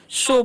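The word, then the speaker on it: show: हुआ है एस एच ओ डब् तो ओ डब् का चलन य पर ओ होता है इसे सा नहीं पढ़ना है ठीक है तो क्या पढ़ेंगे हम शो पढ़ेंगे शो मुझे दिखाओ शो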